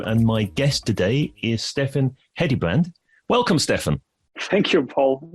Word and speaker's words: Steffen Hedebrandt: I'm Paul, your host of the B2B Uncovered show, and my guest today is Steffen Hedebrandt. Welcome, Steffen. Thank you, Paul, and pretty well pronounced pronunciation of a Danish name.